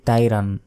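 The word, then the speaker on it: طَيْرًا: আমরা অনেকে বলি আলাইহিম আলাইহিম বললে এখানে আলিফের উচ্চারণ হয়ে গেল তখন ভুল হবে এখানে আইন আছে আইন জবর আলাইহিম তাইরন অনেকে বলি তাইরান এটা ভুল তাইরন আবা বাতে এক সেকেন্ড টানবেন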